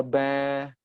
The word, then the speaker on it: bear: Bear nggak pakai R itu British ya. Tapi kalau mau pakai R, bear. Ya, belakangnya ada itu American, ya.